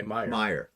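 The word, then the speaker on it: Meijer: I, um, Stephanie says, Walter, you're pronouncing it correctly. Okay, Meyer.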